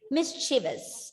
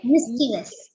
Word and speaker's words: mischievous: Mischievous, exactly. Mischievous. That is, you are like there are 3 syllables in this word, mischievous. And you are stressing on the first syllable, mischievous. Okay? Mischievous.